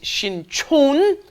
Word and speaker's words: Sinchon: wrong destination that's right be careful of your pronunciation one is shin ton when a shin chon yes the one by yonsei university is shin chon and the one by